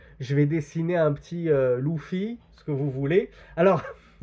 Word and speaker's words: Luffy: là dans le japonais Luffy ça se prononce l'oufi et non pas Luffy donc ça c'était juste